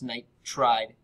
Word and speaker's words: nitride: negative ion, and so I take the first syllable, nitre, and I add -ide, so it's nitride ion.